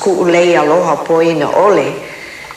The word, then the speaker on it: Kuʻuleialohapoinaʻole: maid but we'll call her Alice she couldn't pronounce kuu lei aloha Paulina Oh Lee so that's why they know me now by